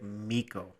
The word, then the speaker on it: Miko: Yeah, and his first name is technically in real life Miko. Okay. It's a short I because it's foreign.